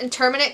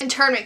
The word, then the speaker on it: internment: to one of the interminate camps is that what that word is internment camps that's that's how you pronounce it and he ponders that